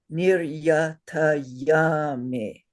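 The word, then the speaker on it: niryātayāmi: And the proper way to say it is niryatayami. Say Yatayami. not yami, yummy.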